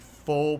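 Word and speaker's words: pho: of Vietnamese food like full places and other stuff there or actually it's fall right you pronounce it fall fall places and stuff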